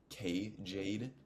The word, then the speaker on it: Jade: And if you want to look her up, her name is K Jade. The K is silent.